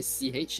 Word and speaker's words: sich: How do you pronounce SICH in German? SIC. CH, yeah. Sich.